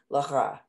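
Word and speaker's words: לך: Yeah, the hey is silent at the end and line second. Oh, I thought, oh, did I? You gave it a lacha, lacha. The second word in line two is lacha.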